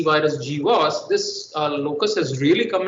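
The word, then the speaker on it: GWAS: but after the 2009 g was as the genome-wide association studied is pronounced in short after the hcv hepatitis c virus g was this locus has really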